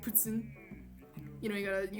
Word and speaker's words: poutine: oh yeah um the the proper and correct pronunciation of poutine is um you gotta write you gotta get real quebecois okay you gotta get in the headspace and you gotta say i like putzin you know you gotta